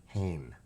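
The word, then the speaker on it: Samhain: I had to put Sam and then Hayne because I wasn't sure it was going to pronounce it right. I put H A Y N. Hane instead of S A M H E I N.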